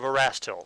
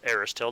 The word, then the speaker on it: Erastil: So the first thing we do is we advance the Blessings deck, and it is a Blessing of Erastil, or Aristil, depending on how you pronounce it.